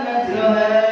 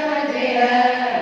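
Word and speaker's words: مجريها: Kalimat majroha dibaca majreha, dibaca majreha.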